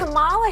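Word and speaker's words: Kamala: First, you say comma like a comma sentence. Then you say la like la.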